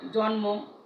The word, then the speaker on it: জন্ম: ম ফলা যুক্ত হয়, বর্ণগুলোর সঙ্গে সঙ্গে ম ফলা যুক্ত হলে সেই ম ফলার উচ্চারণ রক্ষিত হয়।